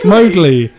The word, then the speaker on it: Mowgli: Mowgli.